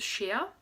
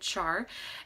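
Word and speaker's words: Schär: It's called Shea, S-C-H-A umlaut R, or some people in the US pronounce it char.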